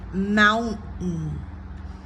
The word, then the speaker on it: mountain: The first syllable is stressed because it's a noun, mountain. Catch the roof of the tongue, NT, the T gets raised to the amount, and then you stay up there, mountain. R, our, or R, mountain. Be sure to stress the first mountain. Otherwise, if you say mountain, it makes it hard to listen and to understand or to be clear. So to be clear, mountain.